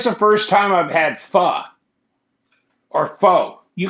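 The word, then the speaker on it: phở: There's an accent on the O.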